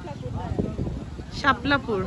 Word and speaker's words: শাপলাপুর: শাপলাপুর। ওখানে লেখা আছে ওইটাই উচ্চারণ পাহাড় ছাড়া শাপলাপুর।